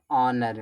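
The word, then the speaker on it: honour: ऑनर में। ऑनर में H silent होता इज्जत।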